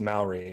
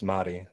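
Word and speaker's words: Māori: By the way, Rugal, it's not pronounced Maori, it's Mahdi. That's how it's pronounced.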